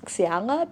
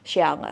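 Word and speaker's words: Xiala: I pronounce it as Siara because I just used the logic of my name to pronounce her name. But then I Googled and her name is actually pronounced Xiai.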